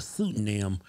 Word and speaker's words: pseudonym: life online as a transgender woman under the pseudonym Brittany Blair Summerlin.